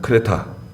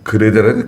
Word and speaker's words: 크레타: 원래는 크레타인데요. 예. 그 지중해에 있는 크레타 섬이에요.